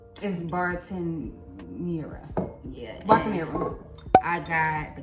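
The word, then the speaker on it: Bartenura: I think it's pronounced Bermuda, but it's Bartenera.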